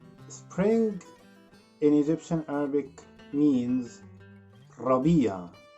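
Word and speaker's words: ربيع: start with spring spring in egyptian arabic means rabia say it again and the season after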